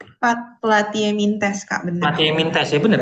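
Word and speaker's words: Platyhelminthes: Ya, gimana Kak Ara bacanya? Platyeminthes Kak, benar.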